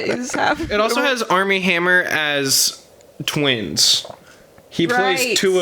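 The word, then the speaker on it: Armie Hammer: it's spelled weird but it sounds like Army Hammer it it's literally spelled not Army like military but like arm i e and then Hammer what a great name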